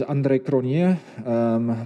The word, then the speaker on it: Andre Cronje: The technical accurate one is the Afrikaans, which is Andre Cronje, but most dialects and tongue movements don't even facilitate that K, that R, or that J sound.